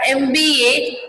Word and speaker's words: MBA: We say MP or an MBA and not a MP or a MBA, because M is pronounced as a EM, which is a vowel sound.